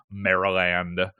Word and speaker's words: Maryland: College in Chester Town Maryland or Maryland as I used to say when I was little and I didn't realize that the Y was a short I sound so yeah yeah i'